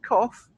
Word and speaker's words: cough: Of course, it's worth mentioning for words like enough and cough, we make the F sound.